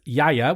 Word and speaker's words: Gaia: how you say it it looks like Gaia but the producer is Yaya which is another thing